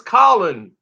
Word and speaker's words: Colin: Well, people say his name is not Cullen, it's Colin.